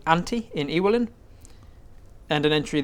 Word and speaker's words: Auntie: ANTE. No, as in your uncle and aunt. Auntie. Auntie.